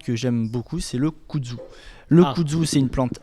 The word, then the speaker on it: kudzu: Il y a une plante que j'aime beaucoup, c'est le kudzu. Le kudzu, c'est une plante asiatique. Ça s'écrit comment, monsieur le sénateur ?